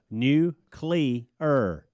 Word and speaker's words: nuclear: by the way nuclear you're you're adding like what you're saying new CLE ER nuclear you said it right